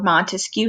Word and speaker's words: Montesquieu: Montesquieu and if you remember Montesquieu has three syllables and he proposes three